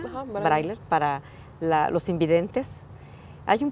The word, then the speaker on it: braille: con sillas anfibias, con escritura braille, así se pronuncia, Ajá, braille, para los invidentes.